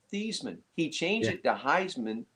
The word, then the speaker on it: Theismann: No, Joe Theismann's name is actually pronounced Theesmann. He changed it to Heismann to Theismann to rain to rhyme with Heisman.